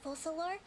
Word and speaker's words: Focalor: Generally speaking, the Hydra Archon, Focalor, will preside over individual trials. Focalor is how you say the However, even then,